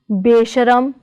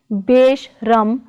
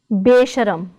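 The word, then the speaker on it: ਬੇਸ਼ਰਮ: Other examples are besharam, not beshram but besharam.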